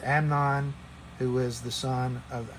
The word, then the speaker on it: Amnon: spelling from last week it's not eamonn it's amnon who is the son